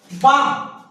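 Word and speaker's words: balm: बाम, एम के पहले कौन आया, एल आया, साइलेंट।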